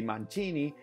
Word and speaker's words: Mancini: generations and their name if it's Mancini is Mancini that's the way they pronounce it and that's the way it is